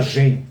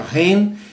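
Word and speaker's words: 仁: No título está Gen. Né? Okay. Porque é difícil transliterar o chinês para o ocidental. Então, antigamente se falava Gen, que provavelmente se pronuncia Ren, e hoje, se você procurar, esta virtude é o Ren.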